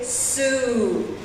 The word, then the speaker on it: Sault: need to know is we say su su college this is a French word and this is the reason for the tricky pronunciation so we're going to